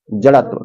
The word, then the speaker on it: जड़त्व: और य है एक जड़ आधा त और व जड़त्व कौन सा है ऑप्शन कौन सा तय गलत है जड़त्व होता है व वाला होता है य वाला